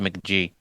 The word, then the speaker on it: Mk.gee: I think it's pronounced McG.